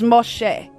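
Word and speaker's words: משה: his hebrew name is moshe that's how you pronounce his hebrew name moshe um and that's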